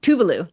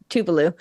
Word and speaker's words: Tuvalu: They did in the island of Tuvalu. I think that's how you say it. Tuvalu. That's it. Tuvalu.